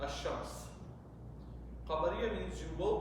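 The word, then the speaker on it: الشمس: Shamsiya means you will not pronounce it, Ash-Shams.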